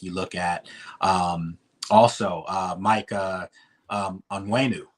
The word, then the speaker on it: Onwenu: Also, Mike Onwenu. From the Patriots, that's Owenu. Okay.